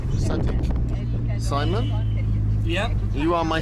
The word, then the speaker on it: صديق: Sadiq. Sadiq.